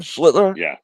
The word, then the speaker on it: Schlittler: But tonight the Yankees started this kid Schlittler. Am I pronouncing that right, Dom? Schlittler? Yeah.